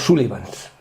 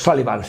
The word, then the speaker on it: Sullivans: Porque en realidad la película no se llama eran cinco hermanos, se llama Los Sullivans o Los Sallivans, si queréis pronunciarlo más más florido.